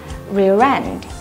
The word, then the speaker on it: rear end: sẽ được gọi là rear end. Các bạn chú ý là từ này sẽ có trọng âm thứ hai và chúng mình sẽ nối âm một chút và từ này sẽ được đọc là rear end.